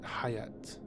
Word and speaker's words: Hayat: I believe the word is based on Hayat, because Hayat in Arabic means life. And this ties into Duncan Idaho coming back to life, hence the name Hayat. So I would pronounce it Hayat, but Frank Herbert pronounces it Hayt.